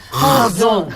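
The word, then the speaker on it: חזון: 한번 발음 따라해 볼까요? 카존. 너무 많이 긁으셨어요. 맞아요. 그렇게 하는 거예요. 요 하자가 이게 가래뱉기 직전이에요. 진짜 그렇게 카존.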